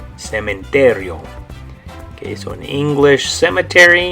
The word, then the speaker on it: cementerio: In Spanish, it's going to be this word, and you're going to say cementerio. Cementerio.